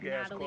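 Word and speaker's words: Nathalie: Man, there's a silent H in my name if you need to look me up. Natalie with a silent H.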